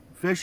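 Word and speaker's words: Phish: culture or the fish fish is a music group like a jam band what they call a jam band and it's spelled P H is H fish and like the fish fans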